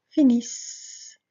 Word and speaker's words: finissent: Et au pluriel, nous allons ajouter un double S et cela fera finissons, finissez, finissent. Très important, on s'arrête là, on s'arrête au radical puisque le ENT ne se prononce pas.